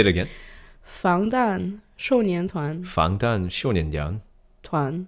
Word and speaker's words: 防弹少年团: Oh, I cannot pronounce that properly. 방탄소년단. 방탄소년단. 방탄소년단. 방탄소년단. There you go. 防弹少年团. Oh, is that in Mandarin? Yeah. Well, how to say it again? 防弹少年团.